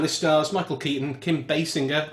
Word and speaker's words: Basinger: And this stars Michael Keaton, Kim Basinger. I did look it up. That's the correct pronunciation. Basinger, is it not Jer?